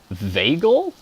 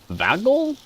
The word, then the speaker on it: vagal: Vagal? Vagal? How do you pronounce that? Is it a short A or a long A? Vagus nerve? Long A? Cool. So yeah, Vegas and vagal.